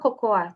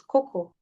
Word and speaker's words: cocoa: It's not cocoa, please. It's cocoa.